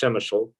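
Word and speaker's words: Przemyśl: were uh driven to the border first to shemachul which has a really uh challenging spelling it's uh i believe p r e z m y s l it's pronounced shemeshel um and um we met with a medic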